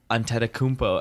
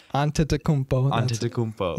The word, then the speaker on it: Antetokounmpo: basketball and stuff, I used to see like Antetokounmpo, and I was wait, what the, like, that's a tongue twister.